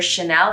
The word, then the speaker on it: Chanel: the sh sound for chanel as a cha sound because in english a ch is you know chuck you know chin you know we make it it's a very harder sound and i like to say it's very much like champagne you know champagne is a french word and the reason we don't say champagne and we say champagne is because ch becomes chanel it becomes much more of a like shh you know in english